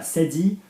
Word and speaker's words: cédille: Mais que cette façon, soft C because of the cedilla. Yeah, can you see the little tail accent under the C? La cédille, the cedilla.